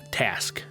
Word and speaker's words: TASQ: which I'll shorten to the acronym TASQ, pronounced TASQ.